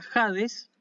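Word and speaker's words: ᾍδης: es la palabra sabes esto se pronuncia jades y es justamente el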